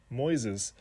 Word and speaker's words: Moises: everybody Welcome to Moises it's spelled like noises with an M Moises all right so right